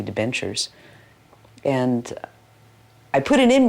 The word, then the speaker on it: debentures: Devonshires. Now, that's mispronounced completely. I didn't know how to pronounce it. It's supposed to be debentures.